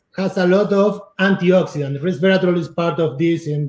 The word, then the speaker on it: resveratrol: He said higher elevation means more resveratrol. How do you pronounce that?